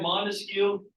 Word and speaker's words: Montesquieu: All right, Montesquieu, I know it's a longer name, but you can break it down into syllables to understand his name. Montesquieu, right? 3 syllables, 3 branches of government.